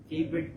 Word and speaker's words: Khayvyrd: Okay, how do I pronounce that? K-Bird po.